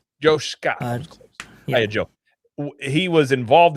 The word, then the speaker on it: D'Amaro: uh what's his I'm going to get his name wrong again. Um Mhm. the new president. What's his name again? Josh Loot? Is that right? Josh D'Amaro. Josh D'Amaro.